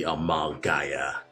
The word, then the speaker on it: Amalgaia: Bria was me like pronouncing it wrong, but it should be Amalgaia. So Amalgam and Gaia, that's the name of it. So amalgamation plus Gaia. Alright, see you, Sean.